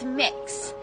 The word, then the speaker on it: Mix: name is mix k it's mix so kind of like cookie mix or mixing bowl that sort of thing that's how it's pronounced that is my name that